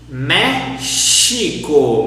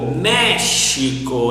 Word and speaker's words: México: And Mexico, how do we pronounce it in Portuguese? México, México. Exception, México.